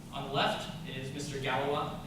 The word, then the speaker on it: Galois: Galois. It's pronounced Galois, not Galois.